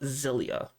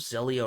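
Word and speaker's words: Xilia: And the last one is for the PS3, and it is a Tales of game called Tales of Zelia. I think that's how it's pronounced. X I L I A.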